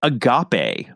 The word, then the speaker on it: agape: Aeros filia and Stor we've got something called Agape it's spelled AAP so it looks like aape but